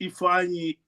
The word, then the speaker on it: Ifeanyi: And I keep on writing, just say Tiffany without a T. If you would have said Tiffany without a T, it would be Ifeanyi.